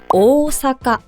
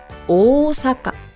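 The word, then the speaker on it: 大阪: 오사라 하죠 이것도 아니에요 오사카 오사카 앞에 오오가 두 개 반복이 되기 때문에이 부분이 장음이 돼서 오사카 길게 발음을 해야 되는 거예요 그리고 또 여러분들이 좋아하는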